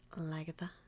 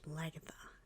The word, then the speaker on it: Lagertha: So, yeah, my dog's name is Lagatha, and that's spelled Lagertha.